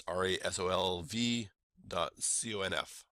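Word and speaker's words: resolv.conf: comp is spelled without a trailing e on resolve so it's rolv docf and it is your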